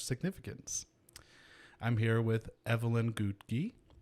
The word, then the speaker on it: Ngugi: i'm here with evelyn gutee like cookie but that's how she taught me to say her name and evelyn is a